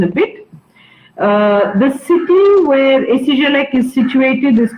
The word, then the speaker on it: ESIGELEC: The original name is a long one, but right now the school goes by its abbreviation and it's pronounced SCGLEC.